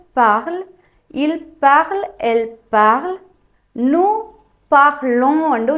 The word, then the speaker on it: nous parlons: il parle, elle parle, nous parlons என்று உச்சரிக்கணும். சில பேர் nous parlons என்று உச்சரிப்பீங்க. கடைசியில் வர எஸ்ஸையும் சேர்த்து உச்சரிப்பீங்க. அது தவறு.